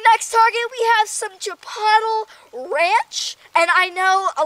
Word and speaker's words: Chipotle: be yelling at me oh it's not Chipotle it's Chipotle like I don't care and I know that but I like saying Chipotle because that's kind of how it's spelled that's actually how it is spelled yeah that's how it's